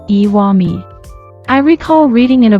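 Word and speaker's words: 石見: This can still be seen today in place names like Iwami, which is written as Ishimi and read as Iwami.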